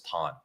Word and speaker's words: Tan: Yeah, so and because of the dialect, it's actually the same as, the last name, but we all right. we pronounce it as Tan.